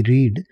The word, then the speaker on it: read: word लिखा हुआ है आर ई ए डी रीड इसको सेकंड फॉर्म और थर्ड फॉर्म में रेड बोला जाता है स्पेलिंग सेम होती है